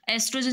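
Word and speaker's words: estrogen: एस्ट्रोजन जो hormone है इसको ओ एस्ट्रोजन भी बोल सकते हैं और एस्ट्रोजन भी बोल सकते हैं। स्पेलिंग में भी इसी तरह से डिफरेंस आ सकता है। एस्ट्रोजन भी ठीक है, ओ एस्ट्रोजन भी ठीक है, ठीक है।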